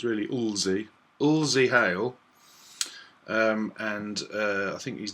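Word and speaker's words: Lzzy: Yes, Lizzie Hale, although it's spelled L-Z-Z-Y, so it's really Ulzie Hale.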